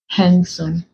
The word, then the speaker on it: handsome: d you have handkerchief handsome so in these words we do not pronounce the d in them I put Soldier there